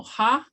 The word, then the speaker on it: ha: So ha is different from haw, haw, haw. And so that's the difference in the pronunciation.